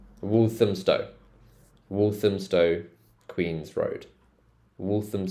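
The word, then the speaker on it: Walthamstow: so look at this so if it's got ham in it do you remember how we said we pronounce it as um so wum wolam Stow wolam Stow Queen's Road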